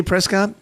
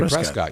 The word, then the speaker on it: Prescott: can we not say Prescott pres but remember he gave us crap about that last time he said yeah he said what they pronounce it here is Prescot and I want to say Prescott yeah hey Scott I